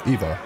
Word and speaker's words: Eivor: I was pronouncing it right. Eivor.